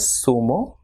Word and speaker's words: zumo: Same way, ZONA will be pronounced as sona, and ZORRO will be pronounced as zorro, and ZUMO will be pronounced as sumo, and ZURDO will be pronounced as surdo.